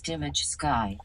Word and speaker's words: Dimageki: Dimageki says the TTS is mispronouncing my name. It's Dimmage Sky. Dimage Sky.